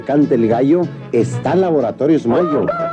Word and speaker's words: Mallo: Para decirles, aquí donde canta el gallo, está Laboratorios Mayo. Y Mayo se escribe como gallo, L-L-O, Laboratorios Mayo.